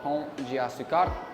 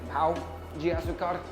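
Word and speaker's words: Pão de Açúcar: It is called Pont de Açúcar, which means Sugarloaf. It is a lot different than Pau de Açúcar, which means rock. So make sure you pronounce it correctly.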